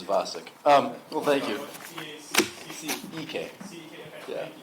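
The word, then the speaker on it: Vacek: V, is it V-A-C-E-K? Yeah, that's how you spell it. No, saying it is Vasek.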